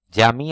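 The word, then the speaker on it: جامع: জামি আহ অর্থ বিশ্ববিদ্যালয়, দেখুন জামি আহ অর্থ বিশ্ববিদ্যালয়, জামি অর্থ মসজিদ। তাওয়ারাহ অর্থ বিপ্লব, তাওয়ার অর্থ সার, দেখুন, একটু উচ্চারণের কারণে কিন্তু শব্দগত পার্থক্য অনেক বড়, এবং সেজন্য আপনারা অবশ্যই মন দিয়ে এই শব্দগুলো প্র্যাকটিস করবেন।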